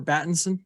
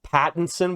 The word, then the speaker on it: Pattinson: the Robert batinson Universe how do you say his last name Robert battenson Pattinson with a p it is patents yes